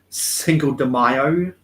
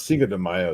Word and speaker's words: Cinco de Mayo: isn't one of the is it one of the mexican sayings single demaio it's cinco de mayo is how it's actually pronounced but they're just doing